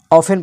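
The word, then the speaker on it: often: इसी तरह ऑफ्टन, तो यहाँ पर जो है ऑफन पढ़ा जाएगा क्योंकि टी के बाद EN आया है।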